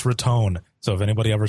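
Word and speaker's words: Raton: they said they're like make sure you say ratton I just like to call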